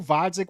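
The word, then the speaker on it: Gvozdyk: We would argue Vodzik with a silent G, maybe not up to par, whatever, right?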